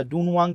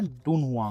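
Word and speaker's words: 敦煌: डनवांग यस यस अच्छा डूनवांग तक का टोल है ये हम लोग जैसे अभी तक मैं डनवांग डनवांग बोल रहा था ना ये एक्चुअल में है डून हुआ बहुत डिफरेंस है भाई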